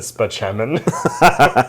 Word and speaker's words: Spaceman: his name was like his name was spelled out doctor Spaceman but he pronounced it speman so I was thinking